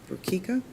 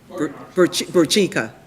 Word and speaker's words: Burchika: And the last case we have that we'll be arguing is cases number C210468, C220343, C230557, Burkika, help me out. Burchika. Yeah, I Bur- pronounce it Burchika versus Ludi, right?